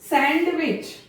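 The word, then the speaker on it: sandwich: सैंडविच, D silent रहेगा, सैंडविच, नॉट सैंडविच।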